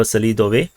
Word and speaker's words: Selidove: got shot down over Selidove or Selidov, depending on whether you want to pronounce this in the English way.